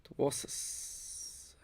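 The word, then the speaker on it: Dwarshuis: We got Ben Dwasus. I'm pronouncing it wrong. That's alright. Sixers. Dwasus. Is it a silent D? Dwasus. Dwasus. There you go. Dwasus.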